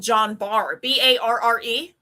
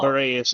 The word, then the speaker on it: Guillain-Barré: that would be called John Barr, Barre. Yeah, Wow. Guillain-Barré is how they I did pronounce it not know that when that's how you say it.